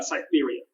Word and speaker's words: Cytherea: Let me know if I'm pronouncing your name right. Cytherea? Is that how you pronounce her name? Oh, close. So Cytherea. Cytherea.